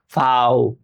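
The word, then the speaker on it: V: ভি, এটাকে কি বলে জার্মান ভাষায় উচ্চারণ যখন করি? ফাও, ফাও। অবশ্যই নোট করে রাখবেন, ফাও, ফাও।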